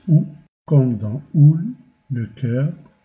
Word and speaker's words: ul: Le u se prononce “ou”, comme dans “ul”, le “cœur”.